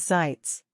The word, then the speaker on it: Sitz: someone to sit though the quickest way to do that is to say sits pronounced as sites be aware this could